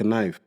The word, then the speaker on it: knife: like knife. Huh? Like knife. Knife. But they got a K on it.